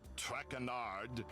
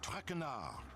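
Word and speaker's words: Traque: As for my name, not Trackard. It is Jean Michelle Traardar.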